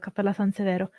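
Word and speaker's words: Cappella Sansevero: It's spelled Severo. But yeah, it's Cappella San Severo.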